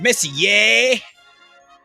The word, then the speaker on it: Messier: I don't think he cares how I pronounce his name. It's Messier.